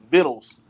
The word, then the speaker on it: victuals: um and it says the pronunciation remains vittles and you I you